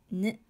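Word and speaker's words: ん: It is pronounced as N, like the English alphabet N, if it comes before N, D, R, T, S, Z, C, H, and J syllables.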